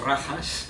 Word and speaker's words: Rajas: Sattva, no lo pronunciamos a la manera española, más a la manera portuguesa, si no decimos rajas, ¿eh? La J en sánscrito suena como en portugués, ¿eh? Es rajas, por lo tanto, y tamas, ¿eh?